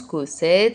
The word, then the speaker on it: Cossette: Alexis ça s'écrit comme ça se prononce cosette.